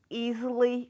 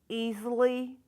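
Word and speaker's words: Easley: Uh, if you would give us your name and spell it for us. Okay. Easily.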